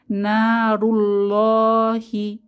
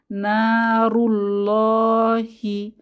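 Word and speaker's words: نار الله: আছে না রু অর্থাৎ র এর উপরে দম্মাহ বা পেশ অর্থাৎ আল্লাহ শব্দের আগের হরফে দম্মাহ এসেছে তাহলে এখানেও আমরা মোটা করে ল অধ্বনিতে পড়বো আল্লাহ শব্দের লামটিকে নারুল্লাহি নারুল্লাহি আল্লাহর আগুন বা জাহান্নাম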